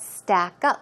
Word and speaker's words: stack up: always keep in mind when you usually have two words a compound word the stress goes on the second syllable so it's not stack